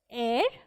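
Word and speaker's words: heir: So this is H-E-I-R, but it is pronounced as air.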